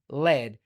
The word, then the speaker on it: lead: Those are all pronounced the same way. The other one is led.